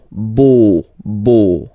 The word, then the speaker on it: beau: So remember this E-A-U combination of vowels only give you the sound O, beau, okay, le beau-père.